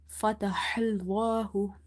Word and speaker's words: فتح الله: Now this ha is from the middle of the throat because this is from the halkiya letters, and in order to pronounce it you have to open your mouth wide and try to exhale the air out. Fatahallahu, fatahallahu.